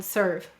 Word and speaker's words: serve: But why do we have a silent E in serve? Excellent. English words do not end in V or U, so we need an E.